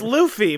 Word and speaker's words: Luffy: um One Piece, but I knew this wasn't Monkey Duffy just stretched into a big circle.